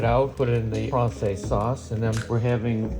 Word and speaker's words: Francese: chicken Francese, correct?